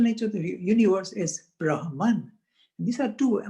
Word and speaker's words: Brahman: of the universe as Brahman. And these are two, I mean, the exact pronunciation, Brahma and Atma, but then in English we don't put an end at the end.